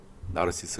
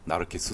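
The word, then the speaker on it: Narcissus: 는 나라 세스가 따르겠습니다 나르시스 는 영어식 발음이 줘 오늘 강의는 편의상 나라 스스로 하겠습니다 하지만 나르키소스 수가 라틴어 발음 이라는 것도 알면 좋을 것 같습니다 이 신화가 던지는 메세지는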